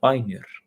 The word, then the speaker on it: Bænir: Isso pode se dar através daquilo que nós conhecemos como Bænir, que são as orações, também pronunciado como Bænir.